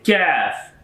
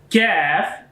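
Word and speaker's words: كاف: Qaf and Kaf. Both are sounds is similar but different is this accents. Qaf, when is coming with two dots, this is a bold sound and heavy sound of this Qaf.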